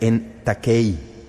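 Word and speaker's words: ἐν τάχει: expresión deben suceder pronto es una expresión griega que se pronuncia en takei de esa raíz obtenemos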